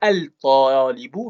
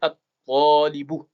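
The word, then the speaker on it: الطالب: Donc dans la prononciation, on ne dira pas al-talibu, mais at-talibu.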